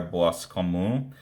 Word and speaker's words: Boiscommun: petrolino by illustrated by Olivier bosu I think is how the name would be pronounced this is a bit